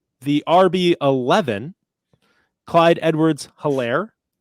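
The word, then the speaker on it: Helaire: Clyde Edwards Hilaire, H is silent, RB 13.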